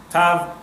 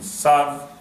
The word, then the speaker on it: Tav: Tav or Ashkenazic pronunciation, Sav, it would be 400.